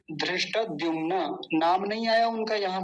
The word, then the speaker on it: धृष्टद्युम्न: लेकिन ये धृष्ट नहीं है, धृष्ट, और ट भी पूरा धृष्ट। और द्युम्न, द्युम्न, धृष्ट द्युम्न।